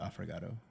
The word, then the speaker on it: affogato: Oh, you know, actually, what was pretty good was the affogato.